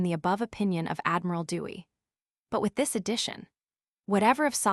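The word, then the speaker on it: Douay: In the 1609 or Dwyer pronounced Dewey version of the Bible,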